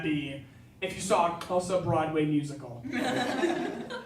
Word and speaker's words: Xhosa: It's Xhosa. There's a click in there. Xhosa, pronounced as Xhosa. There are 3 clicks in Xhosa. The X click, the Q click, and the C click.